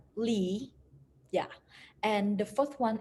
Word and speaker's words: Le: pronounce this at chen the third one is le but we can pronounce it's like lee yeah and the fourth